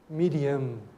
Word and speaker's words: Miriam: Porque quando ela concede a sua resposta, ela ouve Miriam. Porque é assim que se fala Maria em aramaico. Miriam.